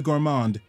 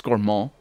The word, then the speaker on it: Gourmand: As they pronounce it. I believe. I'm pretty sure it's Gourmand. Because it's French.